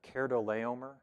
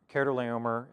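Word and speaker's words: Chedorlaomer: king this is pronounced cardo leomer de keratoleomer the ch there is a hard pronunciation and it connects pretty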